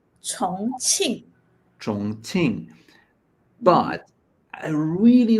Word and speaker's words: Chongqing: How you pronounce this? Chongqing? 重庆.